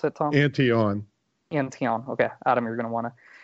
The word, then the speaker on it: Antion: antion by the way is that how you pronounce it tom antion antion okay adam you're gonna wanna we have tom